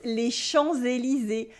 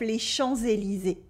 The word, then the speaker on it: les Champs-Élysées: There are several things going on with the pronunciation of les Champs-Élysées. First, we have la liaison. Here, the S that is supposed to be silent in les champs, without anything after, becomes a Z sound because we have Élysée after with un E in French.